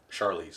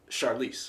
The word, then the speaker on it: Charlize: you say your name what did you say charlie's the wrong charlize is it true i thought it was a shar char charlize like charmander yeah no because that's charmander